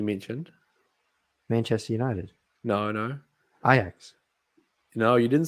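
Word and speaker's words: Ajax: Manchester United no no IX you know you didn't say that you said ax did I no yes you did yep come on pronounce it properly IX um but yeah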